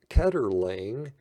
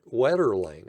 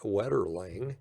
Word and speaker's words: Wetterling: the spelling of it oh i'm sorry wetterling i've mispronounced i was used i was saying that was okay it's eric wetterling so kudos to eric